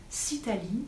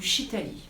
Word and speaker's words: Sitali: Ce pranayama s'appelle Sitali ou Shitali, on peut le prononcer des deux façons.